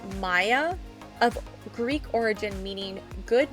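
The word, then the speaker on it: Maia: And it is spelled M A I A. Maya Legacy.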